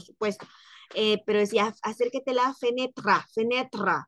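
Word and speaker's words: fenêtre: del italiano por supuesto pero decía Acércate la fenetra fenetra O sea para ellos penetra es ventana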